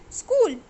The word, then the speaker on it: school: School, H is silent.